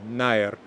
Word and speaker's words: nær: in the word nær, but now in Modern Icelandic it's pronounced I, so nær, so that second to